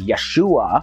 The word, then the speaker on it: Yeshua: probably unable to pronounce his hebrew name which was yahushua also pronounced as yeshua but when the name